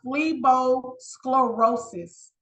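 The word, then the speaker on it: phlebosclerosis: my medical terminology segment this is pronounced fleos sclerosis which a lot of people remember the word sclerosis because fleo means vein I hope you are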